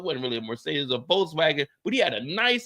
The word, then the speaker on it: Volkswagen: But if you want to say it like you over here in Germany, it's Volkswagen because there ain't no W's, it's all V's over here. Volkswagen.